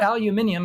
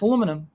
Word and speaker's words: aluminum: Yeah, well, it's not aluminium. It's aluminum.